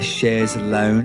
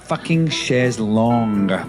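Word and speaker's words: chaise longue: not quite a sofa they call it a shar's lounge oh yeah yeah and it's a shar's long people it's a long chair it's a sh long and they've spelled the they' missed the O in the U round and it cuz they think of the lounge chairs is shes long as the thing and that drives nuts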